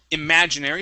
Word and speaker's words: imaginary: go to the word imaginary imaginary stress on the a imaginary imaginary nice job